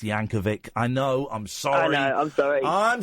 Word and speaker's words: Yankovic: It's a hard C. It's Yankovic.